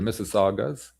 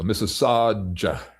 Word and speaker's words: Mississauga: Mississauga sausage, because the letter G can be pronounced DJ or DCH, like the penultimate letter in the sausage. So Mississauga.